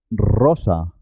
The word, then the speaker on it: rosa: pronunciar tu tarro tarro cuando la r está al comienzo de la palabra se escribe simple se escribe una sola r pero suena doble suena doble por ejemplo radio rosa ratón rumanía ruth